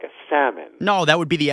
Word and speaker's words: Salmon: Can I have some grilled salmon? You pronounce the L. Yeah, that's how it's spelled. I think it's a silent L, like a salmon.